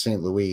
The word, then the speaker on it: St. Louis: Yeah, but that's also should be pronounced St. Louis, because Missouri used to be in what was part of the Louisiana Territory, which was, they spoke French.